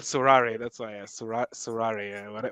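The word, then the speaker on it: Sorare: searching it, you'll have to say So it in French with the right Surare, pronunciation, yeah. please. It's called Surare.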